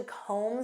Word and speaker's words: comb: Do you have time to comb through this report? Do you know what this means? To comb through. And notice that B is silent.